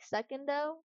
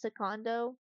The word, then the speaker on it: Secondo: for the second papa I used to think his name was like secondo like second second but actually it's secondo which I'm like okay fair enough is Italian so I start saying like that.